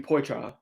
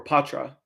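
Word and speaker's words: Poitras: with that said John beer and uh Matthew porra or Patra I was saying his name wrong the other day Matthew Patra between Patra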